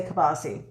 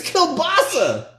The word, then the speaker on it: kielbasa: if it even recognizes how do you say kabasi it's kilbasa kielbasa every word that we've